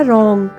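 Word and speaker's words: wrong: Next है रॉन्ग, WRO, इसमें W silent है इसलिए RO को रॉ, NG को बना रॉन्ग।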